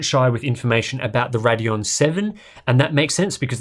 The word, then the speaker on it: Radeon VII: GPU known as the Radeon seven its stylized as VII but it's apparently pronounced seven Roman numerals and all